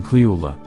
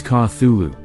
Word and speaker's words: Cthulhu: a note on pronunciation Lovecraft himself gave several different pronunciations of the creature's name throughout his life including cleola with a heavy guttural first syllable the most common pronunciation however is cathulu popular as much later after lovecraft's death the truth of the matter is this is an alien name and to be spoken in an alien tongue so no answer is